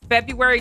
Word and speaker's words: February: problems with Wednesday and February just because we don't pronounce them the way they're spelled. Like it's supposed to be Wednesday and February, but we just don't pronounce it like that.